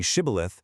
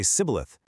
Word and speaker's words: Shibboleth: Their regional dialect actually lacked the SH sound entirely. So instead of saying Shibboleth, the Ephraimite would inevitably say Sibboleth.